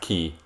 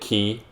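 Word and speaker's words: χ: guess it is pronounced key get it key they they play with that a lot in this series the letter x being pronounced key like the greek letter key because keys get it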